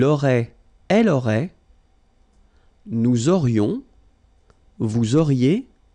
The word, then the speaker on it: vous auriez: Vous auriez, liaison here, and then EZ will go like E. Vous auriez, okay, and the last one.